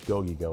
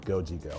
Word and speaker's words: Gogi-Go: I used to have a restaurant called Gogi-Go in Midtown. And everybody called it Goji-Go.